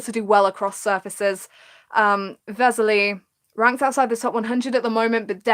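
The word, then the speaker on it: Veselý: you were right Uribe's Li I know it's Vesely but I'm always changing the way I pronounce his first name so bear with me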